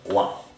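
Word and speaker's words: は: En este caso, la partícula wa se escribe con la misma mora de ja, pero cuando se utiliza como partícula se pronuncia wa, para indicar que lo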